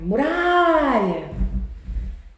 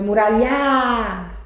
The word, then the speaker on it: muralha: É muralha, não é muralhar, tá vendo? É muralha. Diferente do sofá. Você não fala sofá, é sofá. Tá vendo? Mais forte é essa que se estica. Essa é a sílaba tônica.